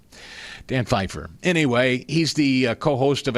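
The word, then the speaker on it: Pfeiffer: Dan Pyifer, spelled with a P and an F, pronounced Fifer. Don't know why the P. Can't you just do without the P? Dan Feifer.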